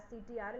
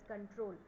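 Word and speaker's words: Ctrl: that is सीटीआरएल बट you don't have to pronounce it एज सीटीआरएल इट is called as कंट्रोल तो कंट्रोल प्स सी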